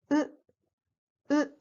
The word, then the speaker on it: う: The third sound is U, similar to U in foot. It is not pronounced A like A in the word nut. So it is U in Japanese.